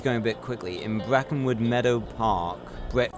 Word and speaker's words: Brackenwood: In Brackenwood Meadow Park. Brackwood.